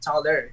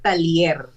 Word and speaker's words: Taller: The real pronunciation of my surname is not Taller. It is Talier. Talier from the Spanish one.